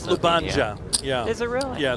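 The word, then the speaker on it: Ljubljana: I can't pronounce that LJ one, but that's that's also where Cara Scott lives. It's Lubanja. Yeah. Is it really? Yeah. Luba.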